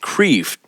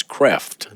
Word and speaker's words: Kreeft: It looks like his name is pronounced Kreeft, but he's a Dutchman, and I think the correct pronunciation is Kreft.